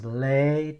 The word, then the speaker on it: Lê: I bet, they get used to hearing people calling them Lee in the US, but now if you pronounce Lê to them, that's different.